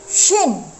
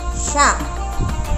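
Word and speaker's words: ش: Kalau yang sin seperti sin ada titiknya 3 itu dibaca shin. Paham anak-anak? Shin atau sha. Seperti kita mengusir ayam. Kalau mengusir ayam kan hush gitu kan.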